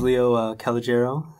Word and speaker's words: Leo Calogero: and your um name how you like it pronounce please so my name is Leo calero and I'm originally from Toronto Ontario I've been